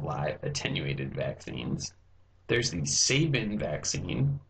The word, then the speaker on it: Sabin: are examples of live attenuated vaccines there's the Sabin vaccine pronounced like Nick Sabin but spelled a little